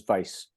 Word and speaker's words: Vais: uh sorry and the last name is vice like vice president uh-huh and vice